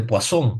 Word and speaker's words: Poisson: Recomendación, chicos, si viene un problema de distribuciones de Poisson, muy bien, así se pronuncia, ¿no?